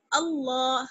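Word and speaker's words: الله: زبر کی وجہ سے ہم اللہ کو موٹا پڑھیں گے. اللہ.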